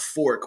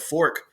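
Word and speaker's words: Forq: really weird but it's a band called fork which is spelled fo RQ and it got started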